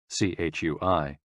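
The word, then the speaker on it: chui: associated with the lungs c-h-u-i pronounced like tui with a forceful exhale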